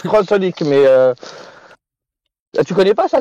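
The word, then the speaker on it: xxxHOLiC: Et ça se prononce Crossolic, mais.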